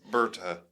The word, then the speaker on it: Berta: Berta is the correct pronunciation. Yes, Berta.